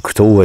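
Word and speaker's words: Couto: Parce que En plus, j'ai fait une erreur aussi dans le nom de David, David Couteau, qui s'écrit C-O-U-T-O.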